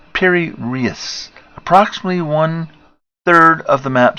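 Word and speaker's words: Piri Reis: Pronounced Piri-Reis.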